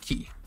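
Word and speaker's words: き: looks like a key so key and it's pronounced the same way key remember that the i it looks like an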